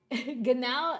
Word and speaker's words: genau: Now guys, ganow is spelled.